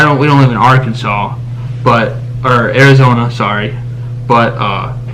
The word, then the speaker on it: Arkansas: right Arkansas in Arkansas you must pronounce the state name correctly so it's not my Kansas yes I mean for us to convene but for them they have to say Arkansas if that's actually how you